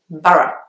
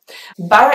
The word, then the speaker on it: Borough: at the end and you actually only pronounce the two syllables the next place is